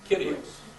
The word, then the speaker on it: Kyrios: Kyrios.